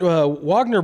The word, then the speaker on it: Wagner: people don't realize but the wag Wagner brothers or Vagner brothers or however you say their names in America it's Wagner but you know the Vagner Brothers I think is how you say it um they're young